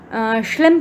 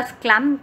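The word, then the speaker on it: Schlemm: drain होएगा स्क्लेरा में श्लिम canal के साथ में या स्क्लैम कैनाल आप इसको कह सकते हैं, जैसा भी आप इसको प्रोनाउंस करना चाहें, अपना अपना प्रोनाउंसिएशन है, तो ये स्क्लेरा में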